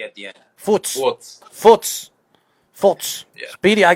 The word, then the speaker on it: Furz: Furz. What is it called? Furz. Forts. Forts. Yeah. Forts. Okay, so it's like a fart.